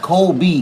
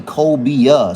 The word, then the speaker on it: cobia: Kobe is a fish, not Kobe, cobia. So I believe it's spelled Colbia, cobia.